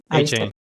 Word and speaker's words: Achane: Is it Achane? A-Chain. A-Chain.